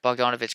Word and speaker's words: Bogdanovich: Bogdan. I was pronouncing it right. Bogdanovich come off the bench,